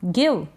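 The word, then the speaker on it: give: ऐसे है यह है गेट गेट मतलब पाना गिव गिव मतलब देना यह है टारगेट क्या है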